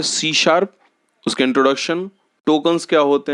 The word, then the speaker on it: C#: सी sharp जो है उसका सी हैश लिखते हैं बट प्रोनाउंसिएशन सी शार्प होता है।